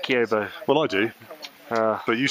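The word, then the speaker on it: Kibo: That's how you say it, Kiyobo.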